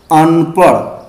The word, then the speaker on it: अनपढ़: तो अगर हम इसका उच्चारण करेंगे अनपढ़, लेकिन इसका अगर गलत बिंदी का ध्यान नहीं रखेंगे, द्विगुण या उच्छिप्त व्यंजन का अगर ध्यान न करके इसको पढ़ा जाए तो गलत पढ़ दिया जाएगा, अनपढ़।